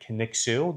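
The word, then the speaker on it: Kaniksu: That gets mispronounced quite a bit, but Kixu, that's that's how you say it.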